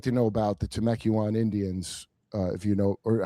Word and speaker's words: Temecula: I would like to know about the Temecula Indians, if you know, or how do you say it? Am I saying it right? totally. Yeah, people tell me I say it wrong, but it's Temukua.